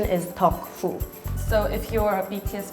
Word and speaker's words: 덕후: now they're just called taku, which in Korean pronunciation is 덕후.